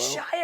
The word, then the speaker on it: Shia: were in the peanut butter Falcon is it Shy or Shia LaBeouf yes the man who says he is with names exactly how you pronounce it yeah yeah yeah it's a Shia LaBeouf yeah yeah he he seems like an